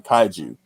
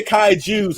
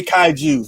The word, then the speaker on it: kaiju: one thing about kyle you can't say kai jews around him because he will probably take a rusted sledgehammer and bash you in the shins with it but you can't say kaiju it's tied to you